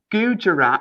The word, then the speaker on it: Gujarat: Number four, the Gujarat.